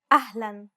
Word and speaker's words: أهلا: أهلا. Unlike the English L, the tongue is ever so slightly flatter and straighter in Arabic.